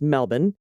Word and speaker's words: Melbourne: and i live near melbourne which of course is pronounced melbourne yep just up the